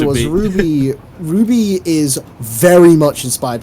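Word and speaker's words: RWBY: it's it's old yeah it's called Ruby but it's spelled rwb now Ruby I'm going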